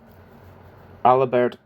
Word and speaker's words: Alibert: In 1930, Fogarasi, Alibert, I was saying it wrong, I said Albert before, I think it's Alibert.